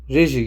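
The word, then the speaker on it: reggae: Ragy diye reji gibi mi okunuyor? Aynen.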